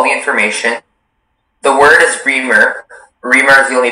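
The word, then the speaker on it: rimur: Reamer. Am I pronouncing it correctly? Sounds right.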